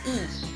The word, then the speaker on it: y: Y means English Y, that alphabet Y is, in Spanish it's and, right? And we pronounce as E, right?